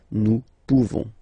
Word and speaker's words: nous pouvons: You don't pronounce the final S. Nous pouvons.